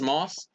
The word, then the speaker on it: Maas: of her interestingly enough her last name is moss it's not spelled the same way but I mean it might actually be pronounced mass but I pronounce it